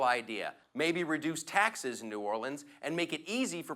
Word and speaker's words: New Orleans: They're like, it's New Orleans, New Orleans, like you're choking on a peanut, New Orleans.